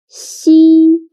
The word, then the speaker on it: xi: Xi sounds a little bit like the first sound of sheep, but when pronouncing xi, again, your tongue should be more flat, and you need to stretch your mouth to two sides.